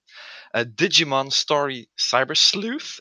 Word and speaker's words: Digimon Story Cyber Sleuth: Digimon Story Cyber Sleuth, if I pronounced that correctly.